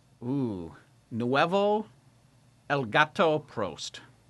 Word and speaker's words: Prost: No, you even said it wrong again. It's Prost. Pro oh Prost. That's funny. Wow, that's interesting. Say professional. Professional. So, now say pro Prost.